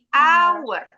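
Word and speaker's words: hour: H-nya silent. Jadi bacanya bukan tapi our pakai atau bilal.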